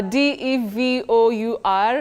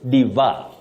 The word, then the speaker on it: devour: go about that oh many people innocently say div some even say Diva but bet the correct pronunciation of that word is devour devour it has we call a tri thong that is a glide on three vowel sounds devour exactly the way